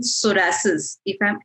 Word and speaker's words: psoriasis: Doctor, there's one more question who parent has asked about psoriasis. Have I pronounced it correctly?